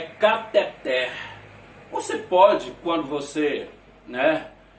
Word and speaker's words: cateter: não tem acento e não é diferente com esta palavra aqui que todo mundo fala Inclusive eu também falo né mas o nome na verdade é cateter você pode quando você